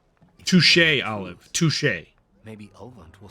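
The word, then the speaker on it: touché: one's expense by another it is french shea is a french word in french it's touche yeah just like that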